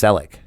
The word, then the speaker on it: Selleck: It's pronounced Selleck. Oh, Selleck. Like Tom Selleck.